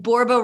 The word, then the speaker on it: Borba: One little alert, I'm a 1L Michele, and Borba rhymes with Zorba.